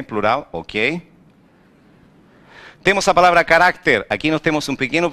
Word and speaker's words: carácter: Temos a palavra carácter.